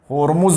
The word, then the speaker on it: होर्मुज: और देखिए 1515 ईस्वी में अल्बुकर्क ने फारस की खाड़ी स्थित ओरमुज द्वीप पर अधिकार कर लिया। किस पे? ओरमुज बंदरगाह। होर्मुज भी लिखा मिलता है, प्रोनाउंसिएशन में अंतर आ जाता है।